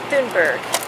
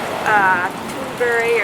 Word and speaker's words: Thunberg: And I heard about Greta Thunberg. So That's how I say her name, but it's actually Swedish, so it's actually something like Greta Thunberg or something like that.